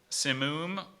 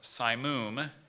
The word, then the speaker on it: simoom: I'm gonna define it simoom or psy moom it's a hot dry